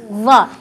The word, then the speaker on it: ظاء: لا يخرج اللسان ايوه والظاء التي فيها عصا تنطق ظ ايو انظروا يخرج طرف اللسان قليلا لا تخرج ربع اللسان طرف اللسان ظاء اذا هذا الفرق بين